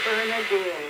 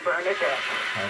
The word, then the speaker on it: Bernardine: business calls and things I will say my name Bernardine and then they come back and call me bernardette everybody thinks the bernardet